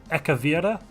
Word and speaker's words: Ekavira: Is That how you pronounce it? CHARA? No, it EKAVI. Oh, in the yeah. Devas system. No, the Devas. I just see Devas. Oh, the system is Ekavira. Yeah, that's the one, my lord.